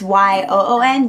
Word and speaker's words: Yoon: I think that's how you pronounce her name. It's Y-O-O-N, Yoon.